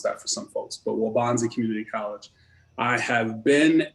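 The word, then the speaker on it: Waubonsee: students at waubonsie community college it's hard to pronounce that for some folks but waubonsie community college i have been in the field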